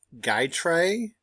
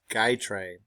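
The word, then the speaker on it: Gytrash: that this is pronounced guy tray you don't say the sh it's guy tray all right it was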